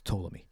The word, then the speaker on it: Ptolemy: You don't pronounce the P, it's Ptolemy.